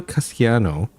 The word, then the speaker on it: Castellano: So when Benny says his own name, it's like Benito Castellano. But then when Gia says it's Castellano, which is what I think most people would pronounce it, but he has a very Italian flair to it.